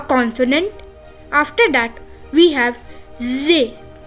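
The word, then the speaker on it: з: which is a consonant after that we have Zay Z which is also a consonant after that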